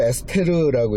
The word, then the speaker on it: 에스더: 이 부림절 뭐냐면 이제 에스더라고 하는 때가 언제냐면은 에스더를 에스테르라고 읽는 사람도 있고요.